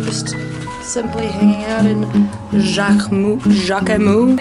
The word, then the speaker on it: Jacquemus: Yeah, so just simply hanging out in Jacquemus. Are we pronouncing the S? Moose.